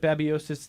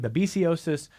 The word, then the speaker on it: babesiosis: You heard Michael, and a lot of people will pronounce it babiosis, the technical name babesiosis, but same thing.